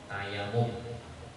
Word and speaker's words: tayamum: Atau bertayamum, tuh tayamum bacanya, tayamum. Adalah tulisannya. Tulisannya tayamum.